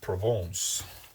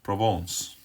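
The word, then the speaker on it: Provence: here and write down Province or provance as I'm sure it should be pronounced well something like that probably not making a great job it provon there we go right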